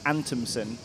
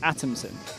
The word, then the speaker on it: Adamson: that watch the webcast they now call him Nikki antonson which is not the way that you say his name is Adamson which you know you